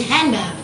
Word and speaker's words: handgun: not pronounced for example most american english speakers do not pronounce the d in handgun so the d they